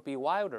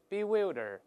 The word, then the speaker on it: bewilder: 注意这个词发音容易错啊，不要读成 bewilder，不对，跟老师大声来一遍 bewilder，注意容易读错啊，令人